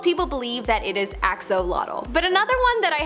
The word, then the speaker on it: axolotl: most part most people believe that it is axolotl but another one that i have to kind